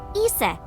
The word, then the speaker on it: Isis: horace's mom is named isis but in ancient egyptian it's pronounced closer to isa or hmm how do